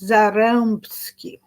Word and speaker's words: Zarębski: Okay, the name that you want to know how to pronounce is Zarębski. E with the tail in Polish is E. A with the tail it's on.